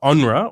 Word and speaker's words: UNRWA: uh the headquarters of unra or as how we pronounce unrwa the UN relief and